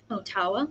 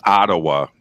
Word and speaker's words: Ottawa: of canada in um otawa is that how you say it otawa so he conjectured it's ottawa but not even close to what i said oh gosh i lost